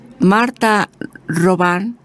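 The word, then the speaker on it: Marthe Robin: en un alma francesa marta roban se escribe robin pero decimos marta roban que murió en 1981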